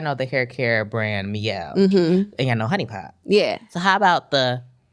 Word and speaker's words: Mielle: it says my L.